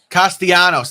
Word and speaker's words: Castellanos: Castellanos, that's how you say his name.